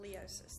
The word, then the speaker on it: Leousis: Leosis. The Leosis. U is silent. Thank you. That makes it a little easier to pronounce.